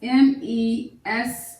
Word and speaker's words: message: And the word message is a two-syllable word, message. Do you know what we're going to divide between? We're going to divide between the double S's. You got that right. Keep in mind that the G is a soft G sound. The reason there's a G here, it sounds like a J, it's because it's taking on a soft form as it's standing next to an E.